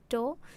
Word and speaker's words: DAW: I think with a lot of your explanations, you have to kind of imagine the doll.